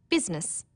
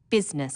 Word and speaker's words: business: Business, people don't pronounce the I. Business.